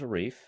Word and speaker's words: Arif: I mean, my name is Arif, and that rhymes with wreath.